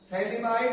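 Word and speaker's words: phthalimide: आर आई एल गबल थैला माइड P silent है फला नहीं पढ़ेंगे थैली माइड सिंथेसिस ठीक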